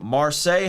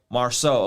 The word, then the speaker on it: Marcel: we got the homie marseille how do you say your name boss i probably butchered it marcel okay my fault boss